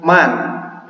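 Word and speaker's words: من: Oke, yang pertama ini dibacanya man.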